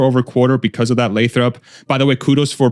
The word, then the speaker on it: Lathrop: Like a 50%, 100% growth quarter over quarter because of that Lathrop? By the way, kudos for pronouncing Lathrop correctly.